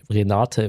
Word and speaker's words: Renate: Renate rhymes with Hekate.